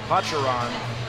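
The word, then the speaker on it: pacharán: i never heard of it before and i mispronounced it it's pacharon it's a licorice liqueur for liquor essentially it's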